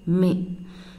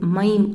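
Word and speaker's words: मैं: நான் அப்படின்னா மே. Actually மை அப்படின்னு ப்ரொனவுன்ஸ் பண்ணக்கூடாது, மைம் அப்படின்னு சொல்லக்கூடாது. அந்த இம் வந்து சைலண்ட். ஜஸ்ட் நீங்கள் எப்படி ப்ரொனவுன்ஸ் பண்ணணும் அப்படின்னா மே.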